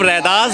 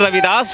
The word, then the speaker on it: रैदास: चल रही थी य हम जब रैदास बोलते हैं तो सही प्रोनंसिएशन करते सही नाम का उच्चारण कर रहे हैं लेकिन जैसे ही हम रविदास बोलते हैं तो हम ब्राह्मणवादी व्यवस्था के दिए हुए नाम पर चले जाते हैं आपका क्या विचार है